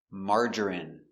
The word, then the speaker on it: margarine: We pronounce them all the same. in in Remember. medicine margarine intestine or intestines more than one genuine famine Remember, it's countable a famine famine and jasmine.